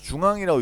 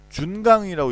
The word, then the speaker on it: 중앙: 사람들이 중앙이라고 읽겠지. JUNGANG는. 근데 이걸 어떤 사람은 준강이라고 읽을 수도 있어요. JUNGANG 이렇게 읽어서 준강이라고 읽을 수도 있지. 그렇기 때문에 이런 경우에는 이 대쉬 중간에 끊어 읽어야 될 부분에 대쉬를 표시해 주면 됩니다. 그래서 중앙의 경우에는 JUNG-ANG 이렇게 쓰셔야 된다.